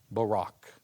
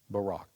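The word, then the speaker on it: Buraq: Listen carefully to my pronunciation of the Arabic. Barack. Barack.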